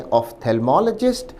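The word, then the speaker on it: ophthalmologist: विद्यार्थी शब्द के उच्चारण पर भी ध्यान दें। ऑफ्थमोलॉजिस्ट।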